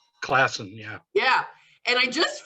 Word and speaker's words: Classen: Classen, yeah.